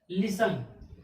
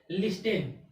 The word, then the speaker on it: listen: टी हो जाएगा silent. यानी कि उस वर्ड का प्रोनाउंसिएशन करते समय टी लेटर्स का उच्चारण नहीं होना चाहिए, टी लेटर्स का प्रोनाउंसिएशन नहीं होना चाहिए।